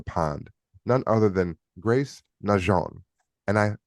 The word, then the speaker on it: Najean: none other than Grace Nehon and I pronounce the name specifically Nhon to pay heritage to again her marriage which is to a gentleman of French descent.